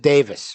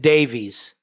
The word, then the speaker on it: Davies: who was working with Ray Davis and he pronounces it Davis we always said Davies cuz that's the way it's because that's the